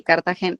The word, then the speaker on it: Cartagena: Sí, Cartagena.